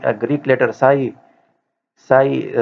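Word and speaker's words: psi: Kilo pascal के पी इसका जो है वो यूनिट है और ये ग्रीक लेटर साई साई से हम इसको रिप्रेजेंट करते हैं। ये साई में पी जो है वो साइलेंट है और ये साई का सिंबल है।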